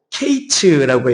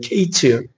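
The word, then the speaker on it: קַיִץ: 이게 뭐냐면은 여름실과 이것이 히브리어로 케이츠라고 해요. 케이츠. 그리고 끝 이이이 뜻이 이제 히브리로 캐츠라고 하죠. 그러니까 케이츠와 캐츠가 비슷하잖아요. 그 발음이.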